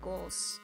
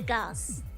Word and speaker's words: Gauls: The English pronunciation is more like goals. The goals. Gonna go meet the goals and see what they're up to. Or the gals.